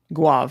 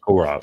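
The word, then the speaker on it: Gourav: And I would try to say Adash Guav, thank you. Gaurav. There's an R in there. Gaurav.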